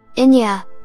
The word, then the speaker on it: Eithne: Inya, apparently pronounced like that after the Irish musician, had a dream that